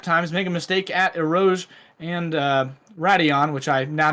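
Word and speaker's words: Eau Rouge: Make a mistake at Erouge and Radion, which I now know how to pronounce.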